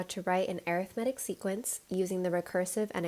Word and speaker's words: arithmetic: isn't this arithmetic so when we use this word as a noun that would be pronounced as arithmetic if we're using it as an adjective to describe this sequence we say it as arithmetic so this video is